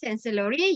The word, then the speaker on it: Canselori: Okay, so the first one, Bangunan Canselori. Okay, did you remember how to pronounce the the letter C? Sure. Okay, not K.